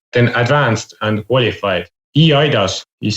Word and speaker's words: eIDAS: What I find very flexible with the eIDAS or eIDAS, as I would pronounce it, is that it doesn't say in